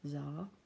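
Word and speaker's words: Xar: once smelled never forgotten czar pronounced czar I don't know why spelling he's weird was a wild young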